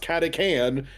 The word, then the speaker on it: Catachan: He like you actually the first episode where you see catechans come up, he literally in the very bottom right hand corner is like, yeah, it's actually pronounced catecan.